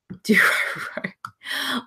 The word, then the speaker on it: Dororo: Do Roro, it's continuing, not new for that season. Do Roro.